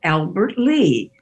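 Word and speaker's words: Albert Lea: It was named Colonel Albert Lee.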